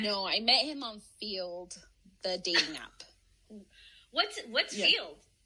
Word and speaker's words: Feeld: No, I met him on Field, the dating app. What's Field? Field, it's spelled FEELD. And then it used to be an app to find threesomes.